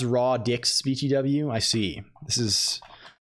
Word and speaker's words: radix: It's pronounced raw dix BTW.